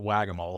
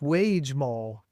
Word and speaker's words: Wage Mole: I pronounced it Wagamole. That's how I pronounced it when I read it. And then I read about what they were doing. I was like, oh, that's Wage Mole or Wagamole, Wagemole.